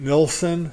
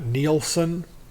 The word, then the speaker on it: Nilsson: albums now for one I pronounce his name Nelson not neelsen because that's the way that it's spelled for two when I